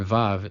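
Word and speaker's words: וו: So, the letter VAV is a labial dental as we saw with the letter VET, pronounced as /v/, as in 'volleyball', and yes, you're going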